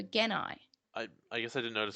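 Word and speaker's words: Gennai: Also, something I found interesting is that Azulongmong, so in the dub, he says Jedi, but he pronounces it like the original does with a hard G, so Genai.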